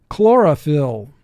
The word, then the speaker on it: chlorophyll: First syllable, chlor, 3 sounds. K, ol, or. Second syllable, 1 sound. O. Phyll, 3 sounds. F, I, ol. Chlorophyll. Mark the word. Chlorophyll. Y, when it's followed by a consonant, represents the short I sound.